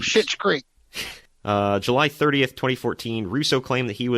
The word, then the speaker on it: Schitt's Creek: It's not a cuss word. It's a name spelled with an SCH and two T's. Schitt's Creek.